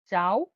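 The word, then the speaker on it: ciao: সিকে চে বা কে হিসেবে উচ্চারণ করা হয় ইতালিয়ানে। চে বা কে। উদাহরণটা হচ্ছে চাও বা কাজা। চাও বা কাজা। মানে চে উচ্চারণ হলে চাও হয়।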